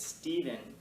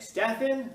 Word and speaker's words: Stephen: person who sisters like it's Stephen even my name is spelled s-t-e-p-h-e-n the Irish spelling and people want to argue with me like Stefan I don't argue with